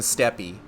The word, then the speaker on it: Steppe: So in this area, I've really only unlocked flight in the Azim Steppe. That's just pronounced steppe. I'm saying steppe to be cute.